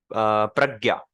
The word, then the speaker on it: प्रज्ञा: और एक वर्ड है प्रज्ञा, तो उसमें प पहले प्रोनाउंस क्यों हो रहा है? क्योंकि र नीचे है, प्रज्ञा।